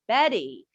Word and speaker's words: Bette: bit one funny bit about the name about betty with an e at the end bette midler